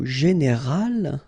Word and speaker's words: général: Okay, but then phonetically it's quite interesting because you don't make any difference. You will get so général at the masculine form, and it will be exactly the same thing at the feminine form, général.